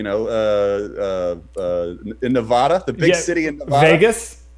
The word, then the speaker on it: Nevada: don't think so dude it's not Nevada it is Nevada I know this for